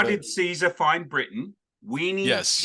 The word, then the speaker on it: veni: Classic Latin actually pronounced its V's as W's, our best guess is, which means that Caesar would have found it weenie, weedy, and witchy.